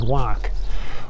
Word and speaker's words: Wark: picturesque Village of wak spelled w-a-r-k but pronounced locally as work we're in the Square inside work and we're going to